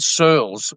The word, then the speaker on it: Searles: I'm joined by Searles. How do you pronounce your last name? You can pronounce it Searles, rhymes with girls.